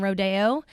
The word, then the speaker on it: rodeo: So we do the traditional pronunciation rodeo.